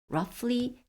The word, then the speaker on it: roughly: And it is roughly, 민수기라는 이 책은 roughly는 아주 정확하게 precisely가 아니라 그냥 대충 roughly GH가 F 발음입니다.